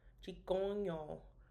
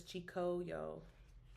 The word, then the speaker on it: Čhigǫ:yǫ: You use like the top of your mouth and your nose when you're saying them, like chikong, chikoño versus chikoyo, right?